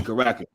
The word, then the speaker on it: Caracas: Okay, Caracas.